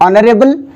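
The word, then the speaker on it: honour: एन आवर, ये देखिए this one, एन आवर, an honest, N ऑनरेबल, एन ऑनर, N historical building, तो automatically H आपका क्या हो गया?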